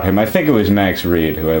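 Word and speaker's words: Max Read: And I also, because Max Reed, I think it's Max R-E-A-D, I'm pretty sure. Well, no, I know that. I think he pronounced it Max Reed.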